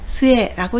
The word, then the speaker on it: 末: 훈독은 스에라고 읽습니다.